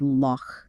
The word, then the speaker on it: loch: voiced V Viller cative think of it like the a in some pronunciations of the Scottish word Lo like The Lochness Monster exactly yeah but in this